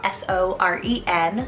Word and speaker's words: Soren: and for girls really genderless next up is soarin spell s-o-r-e-n soren it's both a danish and norwegian name